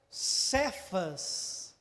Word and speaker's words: Cefas: E veja bem, o nome original de Pedro, que era Simão, ele vem, né, da língua aramaica, né, e no aramaico a pronúncia seria Cefas, que quer dizer pedra, ou rocha.